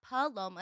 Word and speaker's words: Paloma: It like pronounced P-U-H. And my mother, growing up as I was a little girl, was like still like, that's not your name. You have to say my name is not Paloma. It's Paloma.